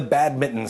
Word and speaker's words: badminton: my shuttle namely the bad Mitten Scandal and you'll notice that I'm pronouncing it in the American fashion without an N but we are talking